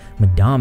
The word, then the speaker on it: Madame: trying to sue Onision, Madame, well, I actually found out her name's pronounced Madam. But I'm just going to keep calling her Madame because that's what my southern accent tells me to do.